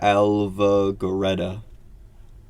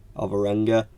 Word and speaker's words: Alvarenga: Hollywood, and drummer Sandra Alva-Goreta. That is definitely not how you pronounce it. Alvarenga.